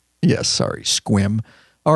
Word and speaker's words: Sequim: said it's almost a second you're just gonna spell it out yeah I'm totally so sorry squim yes sorry squim all right so new before we get into